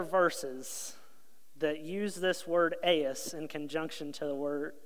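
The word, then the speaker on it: εἰς: It's pronounced "eis," and it's spelled E-I-S.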